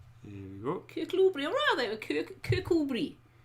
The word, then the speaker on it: Kirkcudbright: Kirkcudbright. There we go. Kirkcudbright, or rather, Kirkcudbright.